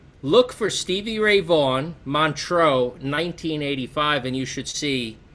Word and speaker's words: Montreux: I can Montreux. slight French accent.